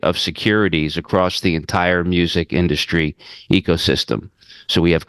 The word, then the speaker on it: MUSQ: so, so I'm the founder and CEO of MUSQ, which is pronounced music, and we are the first pure play music ETF, giving investors a front row seat to the global music industry.